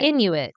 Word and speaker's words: Inuit: me on pronunciation because I don't want to mispronounce this okay um is it Inuit Inuit okay Inuit yeah yeah I didn't want to I didn't